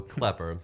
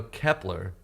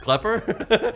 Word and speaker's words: Klepper: I'm like, it's my name, and people mispronounce it, which it's just how it's spelled. Wait, mispronounce it how? They often Kleeper? go Kleeper or they go Kepler.